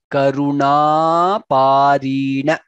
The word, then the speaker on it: करुणापारीण: Gajendra Karuna, na dirgha there. Pa again dirgha, ri dirgha, na. Karuna Parina, that's how it needs to be pronounced.